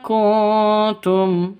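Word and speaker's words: كُنْتُمْ: Bim kuntum. Nun mati bertemu dengan ta. Cara bacanya samar didengungkan. Siap-siap ke huruf ke huruf t-nya karena bacaan ikhfa hakiki.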